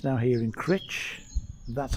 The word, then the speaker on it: Crich: it's been to Blackpool it's now here in crit that's how it's pronounced I've just been reliably informed and the